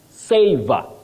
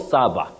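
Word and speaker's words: savour: Savor, not sava.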